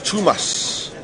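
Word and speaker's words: Tomas: Pronounced Thomas Tumas, but fast, so Tumas.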